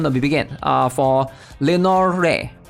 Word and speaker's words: Lenore: be begin uh for Lenor I'm just going to pronounce it as Lenor I'm not sure if the E is silent or not Lenor Lenor so what is she all